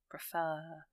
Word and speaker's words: preferred: Preferred. So the stress is on the R section, the second syllable, if you like.